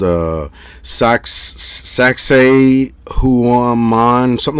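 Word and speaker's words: Sacsayhuamán: to check it out uh it's called uh sax sac say who on mine something like that i can spell it for you see if you can pull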